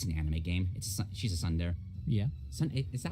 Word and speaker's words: tsundere: She's a tsundere. Yeah. Is that how you say it? I think it's tsundere. Tsundere? Yeah, it's sun Whatever. and then the word dere.